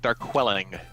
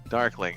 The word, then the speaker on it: Darqueling: course is it a Darkling or is it there quelling depends on how he drunk you are but it actually is so it is actually dork lling darkling okay excellent so I'll